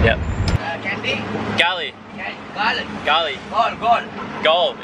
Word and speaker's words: Galle: Gol. Gol. Is that how you pronounce it? Yeah. Gol? G-A-L-L-E, Gol.